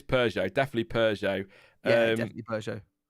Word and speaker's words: Peugeot: I call it Peugeot, or I say Puget, but it is Peugeot.